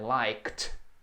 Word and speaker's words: liked: Isso soa como um T ali. I liked.